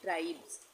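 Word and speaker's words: tribes: ये जो हमने ऊपर पढ़ा यहां पे तो यहां पे भी इसको हम एस का उच्चारण क्या करेंगे? ज करेंगे यानी ट्राइब्स।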